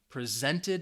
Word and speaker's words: present: Presented me with this awesome, it's a two-syllable adjective, stress is on the first syllable, present.